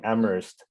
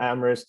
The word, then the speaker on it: Amherst: in amor people say you don't pronounce the h word uh so people say amherst uh but that's just kind of a trivia because there's another amherst in in new york